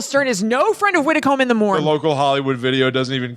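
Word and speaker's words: Widecombe-in-the-Moor: found the website of Widdecombe in the moor which is Widdicombe - in - the - more calm awesome Widdecombe is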